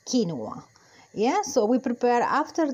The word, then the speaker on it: quinoa: The proper pronunciation for us in Latin America, because this seed is from Latin America, is quinoa.